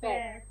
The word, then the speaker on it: fährt: ভোকেনেন্ডে, am Wochenende hat ফ্যাট, এ আছে উপরে, umlaut আছে আপু, ফ্যাট, Fährt Mark zu Tennis টুর্নিরে, Turnieren হ্যাঁ আচ্ছা এখানে একটু দেখুন আপু, এই সেন্টেন্সটা দেখুন যে আম ভোকেনেন্ডে, এই যে মার্ক ফ্যাট, ফ্যাটটা কি ফারেন ভার্ব